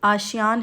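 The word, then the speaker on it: ASEAN: 6th एशियान summit, ये बहुत important है। ठीक है, कुआलालंपुर मलेशिया। ठीक है, मैंने इसको ऐसे याद कर रखा है कि आशियान है बेसिकली इसकी प्रोनाउंसिएशन।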